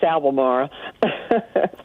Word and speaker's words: Albemarle: say your town sandy you can't pronounce it it's albamara okay oh that's okay